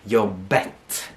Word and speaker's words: jobbet: Here I hear many people messing around a little bit because they're not pronouncing the T. Very common with new students of mine that have taken other courses or learned elsewhere or just learned by their own, that they have come into a habit of not pronouncing the T at the end.